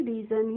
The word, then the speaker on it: region: अब देखिए यहाँ पे REGION, तो REGION और REASON दोनों का ही प्रोनाउंसिएशन सेम होता है, तो इसको भी हम क्या पढ़ेंगे, रीजन ही पढ़ेंगे।